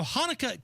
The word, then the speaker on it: Hanukkah: Now, Hanukkah can be spelled a number of different ways. Could be spelled with an H, could be spelled with a CH, but the C is silent.